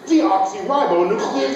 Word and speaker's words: deoxyribonucleic: it didn't you why because it has nine syllables deoxyribonucleic acid what do we